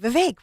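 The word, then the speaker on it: Vivek: friend Kathy Barnett said VI rhymes with cake and nobody knew who he was and I interviewed him remember that early on and it was like vake rhymes with cake we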